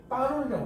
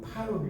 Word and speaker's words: 파롤: 그러니까 파롤인데 우리가 발음할 때는 이걸 빠롤이라고 하는 거예요. 파롤 이렇게 아니고.